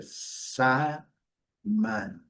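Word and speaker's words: salmon: Eles não pronunciam L. Então a pronúncia é sa man.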